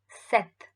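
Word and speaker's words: sept: and you see that the spelling is s-e-p-t but you never spell p so it's seth and it's also not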